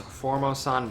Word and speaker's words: Formosan: be bringing in the I think it's pronounced form Osan black bear which is